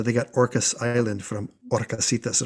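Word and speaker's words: Horcasitas: got orcis island from orcasitas and of course the h is silent so she got her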